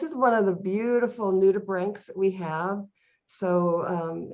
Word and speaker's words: nudibranch: one of the beautiful nudibranchs we have so um it's pronounced as if it was spelled b-r-a-n-k rather than c h it's a clown dorid